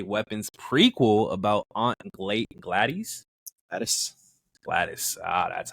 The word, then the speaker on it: Gladys: Gladys.